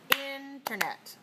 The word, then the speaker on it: Internet: next word number 10 internet internet internet interet syllables internet three stress one all right stress on the first syllable now okay because sometimes